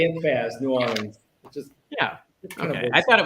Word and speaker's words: New Orleans: We just slur it together, so everybody thinks we say it like one word, like Nolans.